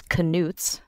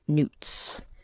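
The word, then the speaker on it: Knut: I also am not exactly sure how it is pronounced. In my head, when I read it, it's always canutes. But yes, it's galleons, sickles, and newts.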